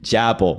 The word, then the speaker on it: Chappell: Chapel.